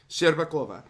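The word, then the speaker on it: Shcherbakova: How do we pronounce that? Bakova. Sherbakova.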